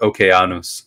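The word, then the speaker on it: οἶκος: start saying okon um which is actually how you pronounce the original Greek word okos okos yeah when are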